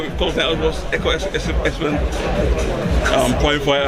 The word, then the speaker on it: Ekow Essuman: Ekow Essuman, point fighter. I didn't say it right this time. Ekow Essuman. Yeah, you said it right, man.